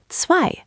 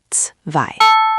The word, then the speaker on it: zwei: Zwei. Try zwei. Zwei, meaning pronounced zwei. Almost there, Devendra. Remember, it's not quite an S sound. Think of it like the ts in cats.